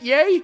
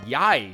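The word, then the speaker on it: Yae: guess I don't know is it yay but in pronunciation would be y-a-e so yai I think is what B but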